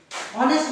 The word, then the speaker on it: honest: Honest man. Before honest man, though the word begins with a consonant H, honest, but the sound of H is silent.